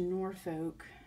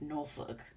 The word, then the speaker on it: Norfolk: And then we had to go to Norfolk. I know I don't say it right. I'm a California girl, sorry. It's supposed to be like Norfolk.